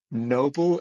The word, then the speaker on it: Nóbl: And your business is called, again with the pronunciation, is it Nóbl Events? No, Yeah, Nóbl Events.